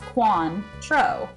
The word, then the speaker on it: Cointreau: all tequila is essential followed by cointreau pronounced quan tro which is a orange